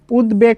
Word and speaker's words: উদ্বেগ: অর্থাৎ এটা তুমি সহজভাবে লিখতে পারো যে ভাইয়া দ এর সাথে দ্ব এর সাথে যদি ব ফলা যুক্ত থাকে তাহলে দ্ব এর উচ্চারণও হবে এবং ব এর উচ্চারণও হবে। যেমন দেখো উদ্বেগ শব্দের মধ্যে দ আছে এবং ব ফলাও আছে।